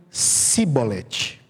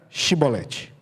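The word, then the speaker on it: שיבולת: O povo de Efraim não conseguia. Por causa do seu sotaque, por causa da forma como eles falavam, não sei. Eles pronunciavam Sibolete. Então, quando um efraimita passava, eles perguntavam: você é de Efraim? Ele dizia: não, não sou. Então diga Shibolete. Aí eles diziam Sibolete.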